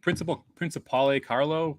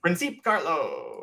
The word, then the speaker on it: Principe Carlo: Yeah, I think Principale Carlo. Did I pronounce that right? Principe Carlo.